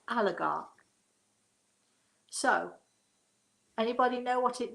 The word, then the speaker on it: oligarch: for to most of you but it is pronounced oligarch so anybody know what it means chris if